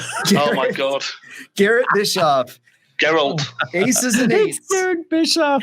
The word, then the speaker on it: Geralt: But I know it's like Garrett. Oh my god. Garrett Bischoff. Geralt. Aces and eights. Garrett Bischoff. Geralt. It's Geralt.